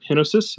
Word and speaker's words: Henosis: bit more about uh henosis Tigers I hope I'm pronouncing that right I assumed it's like genesis but hinosis is that right yes you are look at me with